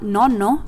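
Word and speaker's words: nonno: no means ninth while no no means grandpa and the way to pronounce these words is that you have to stop when the double letter occurs so you would say non and then no so you have to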